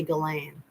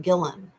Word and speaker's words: Ghislaine: I'm saying her name wrong. I always say Ghislaine. It's like Gillen.